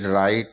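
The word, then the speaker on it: write: आर आई टी ई राइट का उच्चारण ही होगा डब्लू यहां साइलेंट हो जाएगा डब्लू आर ओ एनजी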